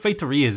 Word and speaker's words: feitoria: I've put feitorias in a ton of different cities, or feitoria, as I think is the most correct pronunciation I'm ever going to manage.